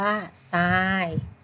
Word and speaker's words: ทราย: ขาด ทราย อ่าน ว่า ทราย ทราย อ่าน ว่า ทราย ทร ออก เสียง เป็น ซอ โซ่ ค่ะ สุด อ่าน ว่า